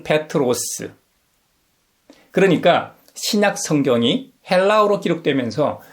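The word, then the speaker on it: Πέτρος: 우리에게 잘 알려져 있는 베드로는 그리스식 이름입니다. 발음은 페트로스.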